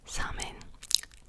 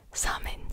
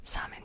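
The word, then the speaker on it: Samhain: came from the ancient celtic tradition festival called samin i've been pronouncing it wrong in my last video too that i filmed the facts about witches and vampires and the pronunciation guide was wrong it's called summon summon okay so simon lived in the area that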